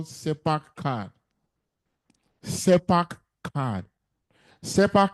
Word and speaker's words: CERPAC: SEPAC is spelled CERPAC.